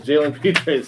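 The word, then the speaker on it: Jalen Pitre: out of baylor jaylen cole how do you pronounce that last name feature peter it is jalen peters safety out of baylor i'll let you start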